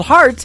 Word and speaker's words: Hart: good friend Robbie Hart it is HR t on her last name and that is called heart in two places yeah